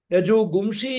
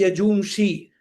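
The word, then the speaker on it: यजूंषि: Yajugumshi is there. Actually, the gum is for pronunciation's sake. The word in Sanskrit is Yajumshi.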